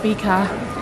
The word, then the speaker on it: fika: Pronounced fika, it is usually translated as a coffee and cake break, but although this is partially correct, it's much more than that.